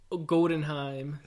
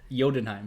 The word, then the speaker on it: Jotunheim: You know, you say it like Thor, Odin's son, announcing his return from Godenheim. Is that a thing? Jotunheim.